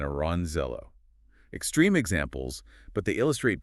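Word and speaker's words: Orangejello: Yes, pronounced shatid and aranzello.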